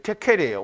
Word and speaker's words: Tekel: 데켈인데요. 데겔인데 이게 테켈이에요. 원래 발음이 테켈이 맞아요.